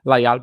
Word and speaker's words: Lajal: Lajal, by the way, should be a more accurate pronunciation. Is it Lajal?